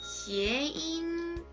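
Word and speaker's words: 谐音: 해음 현상을 중국어로 발음을 하면 시에인 이라고 발음을 하고요. 화합할 화합하다, 조화롭다 라는 뜻을 가진 해자와 발음을 뜻하는 음자가 합쳐져서 해음, 시에인이라고 발음을 합니다.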